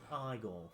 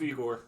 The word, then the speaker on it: Igor: Or was it pronounced Igor? No, it's Igor.